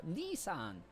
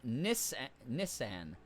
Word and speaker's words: Nissan: Americans pronounce it like the Japanese for older brother, Nissan. Japanese is close to that, but the emphasis is between the S's. Brits pronounce it as Nissan.